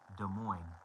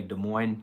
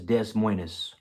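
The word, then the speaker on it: Des Moines: De Mo. Yeah, I know how to say De Mo. The S is silent.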